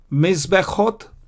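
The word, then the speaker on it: מזבחות: See, I don't pronounce the Shwa here. Mizbechot, I pronounce this Shwa, the blue one. I don't pronounce the red one. Mizbechot, Mishpechot. Mizbechot is altars and Mishpechot is families. Why do I pronounce the blue one? Because before the blue one comes the red one. When there are two shwas, one after the other, you don't pronounce the first, you pronounce the second.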